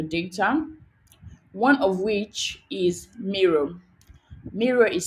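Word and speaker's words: Miro: to analyze your data one of which is mirror mirror is spelled m-i-r-o m-i-r-o so basically it's just a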